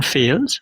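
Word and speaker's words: Fales: I I thought it was pronounc I thought it might have had a more dignified pronunciation but I watched an interview with him and nope it's fails.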